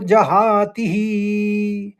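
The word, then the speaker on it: जहाति: पहले चरण में दो शब्द दिख रहे हैं आपको बुद्धि युक्त और जहां तीह तो जहा तीह तो आप तीह में दीर्घ बुलाएंगे उच्चारण उसका तो जहां और तीह और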